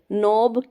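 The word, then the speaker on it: knob: हम क्या बोलते हैं नोब के साइलेंट है इसमें जो इसकी प्रोनंसिएशन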